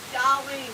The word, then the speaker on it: Dolline: Courtney, my name is Dolline, like Colleen with a D. It's all different. Yeah, Colleen. Her name rhymes with Colleen, Dolline.